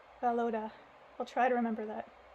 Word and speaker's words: Volodya: Oh, they're telling me here in the footnotes how to pronounce his name. It's Valoda. Valoda.